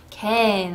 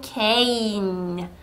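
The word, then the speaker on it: cane: 캔 아니고 케인 요렇게 발음할 수 있도록 지도해 주십시오.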